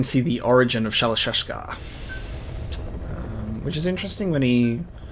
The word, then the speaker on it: Shalashashka: Because somewhere along the line, Shashka got stuck on the end of Shirashka. The guerrillas were using the name amongst themselves. And by the time I got to hearing about it, the pronunciation had wound up as Shalashashka. So half Gulag, half hero sword.